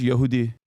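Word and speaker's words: Yahudi: Yehudi.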